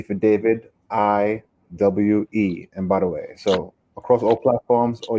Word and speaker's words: Mbadiwe: And then my last name is Mbadiwe, which is spelled M for Mary, B for boy, A for apple, D for David, IWE, Mbadiwe.